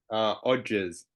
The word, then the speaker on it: Odgers: Odgers, is that how I pronounce the It's surname? Odgers.